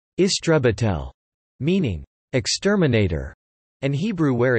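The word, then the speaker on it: истребитель: Exceptions include Russian, where a fighter is an istrebitel, pronounced istrebitel, meaning exterminator, and Hebrew, where it is matos krav, literally battle plane.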